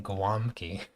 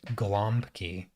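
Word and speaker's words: gołąbki: out laughing because um, the W sound is spelled with L, which is the letter L with a slash through it, and that if you can hear the difference, L and L, so you can hear a little bit of a W sound there. Well, that L is pronounced as a W because W is pronounced as a V.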